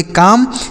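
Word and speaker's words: calm: next word है सी ए एल एम इसे पढ़ेंगे दोस्तों काम सी ए एल एम इसे पढ़ेंगे काम देखिए यहां पर भी एल जो है यह साइलेंट है इस एल का उच्चारण नहीं करना है काम मतलब हो जाएगा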